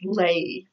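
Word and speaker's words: lei: I wrote down was lay L e I so a lay is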